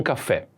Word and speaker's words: caffè: Caffè with accent on the e.